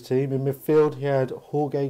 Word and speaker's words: Jorge: in Midfield he had Jorge Grant or is it George I've always that's the way it's spelled but he said George George um yeah some some